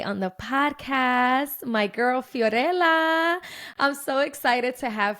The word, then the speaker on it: Fiorella: with ABA okay so fiorella can you please introduce yourself um first of all I love how you say my name because that's exactly how you should say it's very rare that people